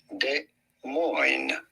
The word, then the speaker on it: Des Moines: Des Moines. In French this would be said Des Moines, but in American it is pronounced Des Moines. Des Moines. The S's are certainly silent.